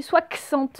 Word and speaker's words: soixante: 60, vous vous rappelez, ça s'écrit soixante, il y a un x. Donc le x, il se dit bien se.